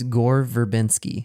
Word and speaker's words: Gore Verbinski: How do you pronounce his first name? It's Gore Verbinski.